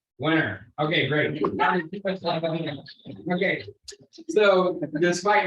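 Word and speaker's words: Wenner: How do you spell it? I don't know how to say it. W-E-N-N-E-R. Winner.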